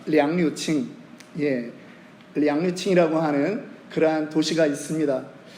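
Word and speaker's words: 杨柳青: 그런데 제가 살았던 곳에 천진이라고 하는 곳에는 그 외곽에 어떤 동네 이름이 있냐면 양류청이라고 하는, 중국어 발음으로 하면 량류칭, 량류칭이라고 하는 그러한 도시가 있습니다.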